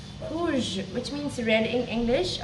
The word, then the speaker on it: rouge: So it is going to be pronounced as rapid, rapid, rapid, rapid. So the next word is red, which is rouge, rouge, rouge, which means red in English.